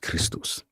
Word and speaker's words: Christos: In Greek, XP acte is XP ichtoch and is pronounced Christos.